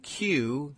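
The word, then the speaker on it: Kew: In June 2015, it was Ben Q, K-E-W, I guess is his pronunciation, who invited Yiannopoulos to speak at the University of Bristol, where he was a student.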